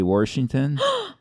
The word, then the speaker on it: Washington: how they say Washington if they pronounce an R in it and say Washington that's like small town pretty hillbilly I never heard that